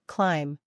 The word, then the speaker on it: climb: It's often silent when it comes after M at the end of a word. Examples include comb, thumb, climb. Listen to this. Comb is pronounced comb. Thumb is pronounced thumb. Climb is pronounced climb.